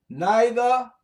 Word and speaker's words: neither: Neither, nor, or neither, nor. They can be pronounced the English way or the American way, which means a negation, it's a negative.